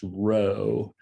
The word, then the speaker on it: rho: correlation coefficient which is the greek letter for r which unfortunately looks like a p but it's actually pronounced rho and it's an it